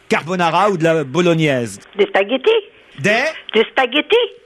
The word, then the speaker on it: spaghettis: Des spaghettis? Des spaghettis? Elle dit le G. Non, elle a dit le G. Elle le prononce très bien. Elle dit comme moi, des spaghettis.